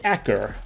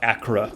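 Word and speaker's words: Acre: It's pronounced Acker, not Accra, as I said several times last episode.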